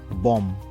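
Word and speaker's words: bomb: সেরকমই একটা ওয়ার্ড হচ্ছে বম বি ও এম বি এখানে লাস্টের যে বিটা সেটা সাইলেন্ট থাকবে আমরা কি উচ্চারণ করব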